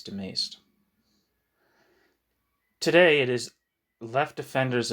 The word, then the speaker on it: de Maistre: I'm probably mispronouncing his name, but I think it's de Maistre.